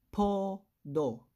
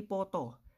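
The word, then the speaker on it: 포도: Next, podo. Podo. Sir, bakit hindi poto? Kasi nasa second syllable siya, kaya letter D.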